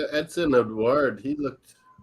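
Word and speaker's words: Édouard: Yeah, like Edson Edouard, he looked. How do you say his name? Edward's his second name.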